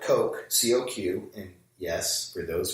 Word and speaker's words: Coq: So we can use something like Coq, C-O-Q, and yes, for those who are already familiar, I'm pronouncing it.